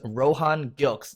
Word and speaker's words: Rohan Gilkes: Today we have the co-founder of Wet Shave Club, which delivers shaving goods monthly to your door, and his name is Rohan Gilkes. Did I pronounce that correctly?